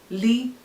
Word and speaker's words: l: The 18th alphabet is Li, written as L, pronounced as LEE.